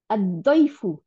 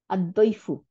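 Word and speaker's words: الضيف: হুম, আচ্ছা, তারপর সে দদ, হ্যাঁ, দদ সে আদইফু, অতিথি, মেহমান, আদইফু।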